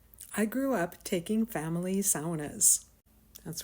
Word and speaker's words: sauna: grew up taking family SAS that's right people that's how you pronounce the word properly SAA my dad was from the country of Finland did you know that